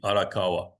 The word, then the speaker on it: Arakawa: traditional would be Arakawa. Gotcha. Yeah, you roll the R's, but anyway.